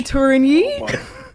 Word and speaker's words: Tourigny: coach i'm gonna try my best with the pronunciation of your last name andre turini did i do okay pretty good okay yeah